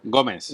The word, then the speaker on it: Gómez: buen Acento en la O, Gómez.